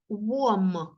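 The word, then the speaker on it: warm: наступне слово в нас вом вом дивіться пишеться Ось так w далі а р м пишеться Ось так Варум читається через о і р не читається виходить Ось так вом вом вом Це теплий ми будемо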